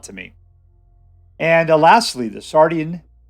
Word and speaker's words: Sardian: And lastly, the Sardian. That's how you say it, Sardian.